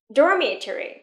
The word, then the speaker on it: dormitory: Dormitory. Trọng âm rơi vào âm tiết đầu tiên nha.